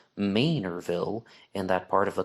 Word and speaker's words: Manorville: a Long Island commuter and said it's actually pronounced Manorville in that part of the country, and that